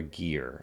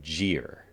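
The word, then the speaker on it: gyre: think the entire series I've been pronouncing g y re incorrectly. I've been saying guy or gear and I think it's gir. Um, but what do you got to do?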